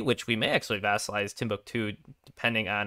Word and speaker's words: Timbuktu: did get friends with tambuk timbuktu is actually the uh correct pronunciation of that one i think aggressive expansion